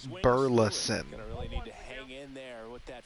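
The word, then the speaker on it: Burleson: I hate how they say his name. It's not Burlson. It's Burles.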